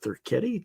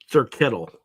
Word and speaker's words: Thurkettle: Is it Thuretti? Did I pronounce that right? No, Thurkettle.